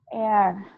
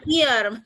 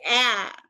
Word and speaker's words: air: Jadi ini dibacanya adalah air. Bukan ear, tapi air.